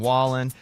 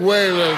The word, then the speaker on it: Wallen: night Entertainer of the Year went to Morgan Wallen which by the way went announcing that here's Jeff Bridges mispronouncing his name and the CMA award for Entertainer of the Year goes to Morgan whan you know what anybody about Jeff Bridges i'